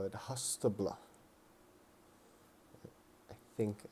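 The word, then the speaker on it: Haustblót: and we'd call it hastabla I think I think that's how you pronounce it it's h-a-u-s-t-b-l -o-t Hospital um hostable is the Norse fall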